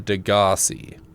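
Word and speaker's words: Degasi: I've heard it pronounced like 4 different ways. I call it Degassi. Yeah, I think it's pronounced Degassi. Degassi. But I can also see Degassi as being a proper one.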